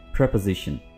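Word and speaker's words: preposition: इसको आप प्रीपोजिशन बोलते हैं, अगर ऐसा है तो गलत बोलते हैं। इसको आप बोलेंगे प्रेपोजिशन, प्रेपोजिशन, ठीक है।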